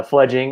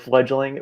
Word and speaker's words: Fledging: there first of all i appreciate you saying it right uh fledging is what we are a lot of people go with fledgling we're actually trying to